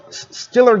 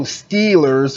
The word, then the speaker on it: Steelers: Pittsburgh is you know we don't pronounce the long E's in this city so there is no Steelers it's killers uh you know you don't work it to steal meal you work at a steel mill okay you know so